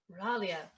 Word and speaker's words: Miraglia: How do we pronounce that? Miraglia. Yeah, Miraglia.